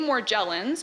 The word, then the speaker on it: Morgellons: of the paper so the name morgellons pronounced with either a hard or soft g comes from a letter